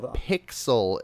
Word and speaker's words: Piczle: And Pixel is spelled Piczle. Yes. So if you tried to spell it by its correct enunciation, you'll probably never find it.